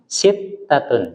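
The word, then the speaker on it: سِتَّة: Haji lagi silakan satun sittatun sittatun ada tasdid ya sittatun satun Heeh alabanu konsentrasi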